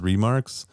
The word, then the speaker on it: remarque: She called it remarques. And I was like, wait, have I been saying it wrong the whole time? And I feel like she would know. So he was right. He was right. I have no idea. I'm not going to question her. Because what's funny is I also, until you said it, I thought of it as remarque. Yeah. Because it's spelled the French way.